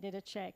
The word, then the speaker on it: Didache: I pronounce it Didache, could be wrong.